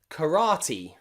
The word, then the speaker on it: karate: believe peace and briefcase finally there are some special words in english where e is at the end of the word and it's pronounced e usually they're words that